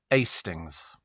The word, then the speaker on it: Hastings: Tony from Hastings, pronounced Astings.